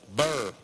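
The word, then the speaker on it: Bourne: My Santa fuimos a verlo la semana pasada y este sábado fuimos a ver una película llamada Jason Bur. Se pronuncia así, Bur.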